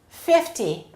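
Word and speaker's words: fifty: However, when the numbers end in 0, we emphasize the first syllable. 50, 90.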